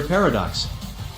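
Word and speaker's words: Para-DX: and as Kamen Rider Paradox. Actually, I interrupted, it's only pronounced that but it's really spelled Pra-DX.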